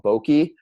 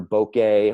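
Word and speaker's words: bokeh: your depth of field so this can be called bogey or bouquet or a number of different pronunciations I tend to prefer a bogey um personal preference but it controls the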